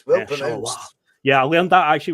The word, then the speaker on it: Charleroi: Well pronounced. Charleroi.